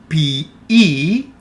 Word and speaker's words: ποιεῖ: Ποιεῖ, again pay attention to the pronunciation here. Ποιεῖ, the combination of omicron and iota makes the sound E, and also the combination of epsilon and iota makes the sound E.